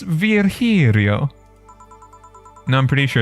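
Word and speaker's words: Virgilio: right we meet again bartender you look winded virgilia it's pronounced Verio Vero Verio it's pronounced virio now I'm pretty sure it's virgilia you said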